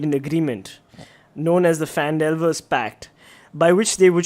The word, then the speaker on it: Phandalin: The times were good, and the nearby human town of Phandalin, pronounced Phandalin, by the way, it's in like brackets, it prospered as well.